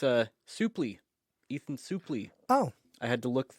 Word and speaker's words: Suplee: it's a souply Ethan souply oh I had to look that pronunciation up oh it is souply yeah okay I thought it was Sue play I did too I thought it was suply remember we we talked